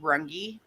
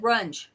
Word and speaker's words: Rungy: Is that how it's said? Rungy? Brass monkey? No, Rungy? rungy. Yeah, rungy. I've always said runge. No, it's rungy. Okay. I learned something new. Yeah, I've always pronounced it runge.